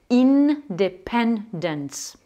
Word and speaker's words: independence: Eh bien, en anglais, logiquement, ça va donner independence. L'investissement, investment. Le symbole, symbol. Inventer, to invent. Impossible, impossible. Voilà, donc lorsque vous prononcerez CN ou CM et que vous ne